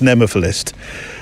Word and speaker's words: nemophilist: bit because I'm trying to remember how to pronounce this, nemophilist. Nemophilist? It is nemophilist.